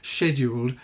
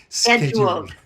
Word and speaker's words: scheduled: I'm torn between using the British pronunciation of scheduled and the American one, which people will probably be more familiar with, which is scheduled. Yeah, we say scheduled in British English.